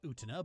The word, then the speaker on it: Utena: Utena, I know it's pronounced Utena, but I don't care, is an anime from the 90s that is considered mandatory watching for every sapphic weeb over 30.